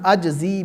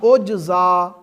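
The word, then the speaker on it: أجزي: اچھا، یہ جو روایت ہے نا الصوم لی وانا اجزی بہ، اس کا جو تلفظ ہے وہ یوں بھی ہے الصوم لی وانا اجزا بہ.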